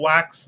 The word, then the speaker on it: wax: or make it official wax pronounced wa is the woff word for chat or conversation